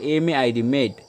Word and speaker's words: maid: দুটার উচ্চারণ প্রায় একই, মেড আর মেড এদের উচ্চারণ একই কিন্তু এদের মানেটা আলাদা। দেখো প্রথমে মেইডের বানানটা দেখো, MAID মেড, এই মেড মানে হচ্ছে কি বললাম, বালিকা।